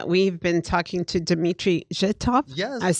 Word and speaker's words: Zhitov: We've been talking to Dmitry Zhitov.